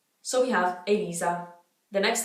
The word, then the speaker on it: Elisa: Maybe people would say it how they say my name. I have no idea. Let me know how you would have pronounced it. It's E-L-I-Z-A, Elisa.